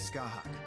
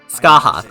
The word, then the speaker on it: Skahak: My name is Skahak. Skahak. Okay, that's how it's pronounced.